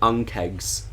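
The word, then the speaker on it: ankheg: were tame ones there uh they are called unkegs a-n-k-h-e-g what an odd way to spell it yeah it's it's pretty hard um they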